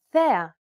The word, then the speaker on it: θέα: This accent just indicates that you need to stress the syllable. That's it. Κάλος, καλός. Νόμος, νομός. Θέα, θεά. Notice how the accented syllables are emphasized? It's pronounced a little bit louder and longer than the surrounding syllables.